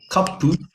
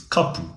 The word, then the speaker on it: kapu: So the correct pronunciation, let's say, for kapu is kapu, koe, kapu. Quite often you'll hear kap. So it's a breathy pronunciation of the vowel.